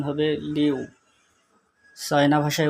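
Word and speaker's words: 六: 6, বাংলাতে 6, চায়না ভাষায় উচ্চারণ হবে লিউ।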